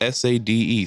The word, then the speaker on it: Sade: It's pronounced Sade.